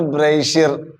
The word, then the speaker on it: brassiere: But it's spelled like BRASSIERE. But it's not a brazier. It's brazier. Brazier. Is that clear? Brazier. Brazier. Yeah, brazier. Yeah, brazier. Brazier. So Americans say brazier.